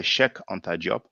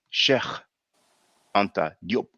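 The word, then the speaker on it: Cheikh Anta Diop: pronounce it faire, because we say shek anta job, but in Wolof it's actually sheikh anta diop.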